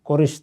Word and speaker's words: قرش: بتا دیا تھا کہ اس کا اصل نام قرش تھا، یہی بعض اوقات قرس تلفظ بھی کیا جاتا ہے۔ 6 صدی قبل مسیح